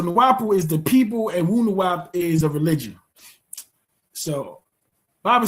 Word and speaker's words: Wu-Nuwaup: How is it pronounced was the next question. WU-NUWAUP, WU-NUWAUP. Yes, that is very good.